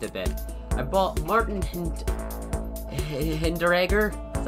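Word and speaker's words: Hinteregger: has actually changed a bit i bought martin hinderegger is how you say it i'm just going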